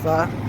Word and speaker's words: pho: know first of all it's not pronounced foe it's pronounced fa secondly if there's a